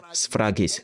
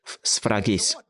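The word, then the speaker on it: sphragis: Le mot sceau, des paroles qui lui servent de sceau, ça vient du mot grec sphragies, S-P-H-R-A-G-I-S. Sceau, sphragies. Et Il dit prononce, le mot prononce.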